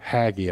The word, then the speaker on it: Haggai: say this word well as Americans we say this word in the South as Hagi this name that's how we say it Hagi I don't know with a Southern accent and if you go